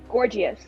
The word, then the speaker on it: Gorgius: Gorgius. Gorgiet. Okay. Yeah, his name is Gorgius. Gorgius. Gorgeous. Gorgius. Okay. Spelled like Gorgius. gorgeous, but with an accent on the E.